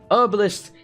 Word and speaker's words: herbalist: Herbalist is a perfectly acceptable pronunciation, because that is the American way.